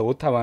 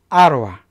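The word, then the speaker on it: Ottawa: 우리가 발음을 잘 해줬는데 오타와 는 그리고 오타와 브라는 진짜 못 한 사람이 많아요 제가 다름 어떻게 해줄까요 예 아 로와 아로 와 이렇게 a 와 로 발음이 됩니다 이게 정확한 발음 이에요 자 그럼 i'm 프람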